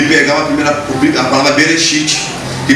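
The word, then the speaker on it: בראשית: e pegar a palavra Bereshit, que começa com B, que pela pronúncia, pela conotação, nós podemos falar que ela se pronuncia como V, e juntarmos as duas palavras, ela dá coração.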